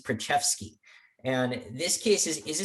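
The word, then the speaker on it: Preczewski: pronounced it uh and he pronounced this one uh usabionum versus prachefsky and this case is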